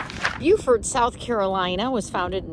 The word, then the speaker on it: Beaufort: of Montezuma to the shores of Tripoli Buford South Carolina was founded in 1711 and it's on Port Royal Island here in SC as I'm going to call it it's pronounced Beaufort there is the same spelling in North Carolina